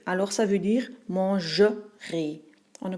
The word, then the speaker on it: mangerai: a un futur simple, le ER tombe au milieu du mot et ça devient un peu plus muet. Alors ça veut dire mangerai. On ne prononce plus et manger, mais mangerai.